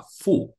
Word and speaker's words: 福: Ni si yu fu de. Saudara, maka dalam tahun baru Chinese seperti malam hari ini, saudara, kita sering menemukan, saudara, karakter Mandarin seperti ini, saudara, yang dibaca adalah fu.